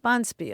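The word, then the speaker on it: bonspiel: ever seen right right Bond spear boniel boniel Accent on the first Sy yeah we're getting together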